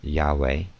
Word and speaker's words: Yahweh: name in making Oaths their priests have preserved the literal uh pronunciation Yahweh or yahi yahwa to